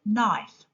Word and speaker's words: knife: K is a silent letter in the word knife.